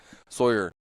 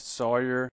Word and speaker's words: Sawyer: Like Alex said, my name is Sawyer. I have lived in this area. Wait, have I been saying your name wrong? I always say Sawyer. You say Sawyer. Depends on how you say lawyer or lawyer.